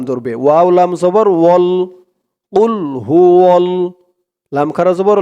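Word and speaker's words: قل: দিয়ে দালকে ধরেছে আহাদ কুলহু আল্লাহু আহাদ কুলহু আল্লাহ দর্শক এরপর থেকে আপনারা সেই ভুলটি আর করবেন না বলবেন কুল কুল গলার ভিতর থেকে আওয়াজটা একটু ধাক্কা খেয়ে আসবে কুল কুলহু আল্লাহু আহাদ বাংলা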